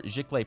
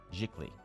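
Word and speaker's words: giclée: now for a proper ziklay print g-i-c-l-e-e which if you're French is poorly pronounced as jikli or jiklae um that's 125 per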